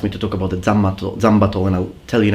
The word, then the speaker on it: Zanbato: Now, Zanbato is the Japanese pronunciation of the three characters which in Chinese are pronounced Zhanmadao.